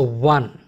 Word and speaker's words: one: So one. See, O is being pronounced as v. So which is a consonant sound.